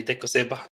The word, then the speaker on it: dec05eba: And uh the name I go by online is it's not pronouncable, but you can call me Decoba.